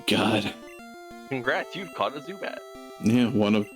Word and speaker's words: Zubat: I pronounced it wrong. The Zubat. Zubat, yeah. It is Zubat.